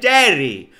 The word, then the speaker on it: Gerry: lo voy a traer el Jerry se pronuncia Ah el Jerry Okay okay e estoy